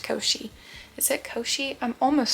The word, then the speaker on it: Koschei: I'm pretty pretty sure it's pronounced Koschei.